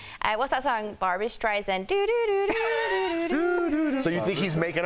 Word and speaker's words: Barbra Streisand: You don't say her name like that. It's Barbra Streisand, like the song.